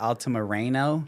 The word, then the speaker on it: Altamirano: I've got ALTAMIRANOoo. Oh, really? Like they do the A. You know, they really pronunciate the fucking A. I'm like, no, it's ah.